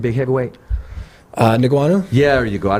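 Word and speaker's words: Ngannou: How do you pronounce Francis' last name? Who? Francis' last name, big heavyweight. Niguanu?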